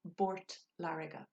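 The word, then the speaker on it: i bPort Láirge: So if the Uru for P is B, let's take an example of Port Lariga for Waterford, Port Lariga. In Port Lariga would be Bort Lariga.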